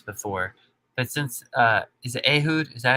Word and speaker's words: Ehud: I probably asked you this before, but since is it Ehud? Is that how you say his name? I killed. Ehud, Yeah.